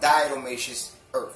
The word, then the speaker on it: Diatomaceous Earth: So let's get into the benefits of Diatomaceous Earth. That's how you pronounce it.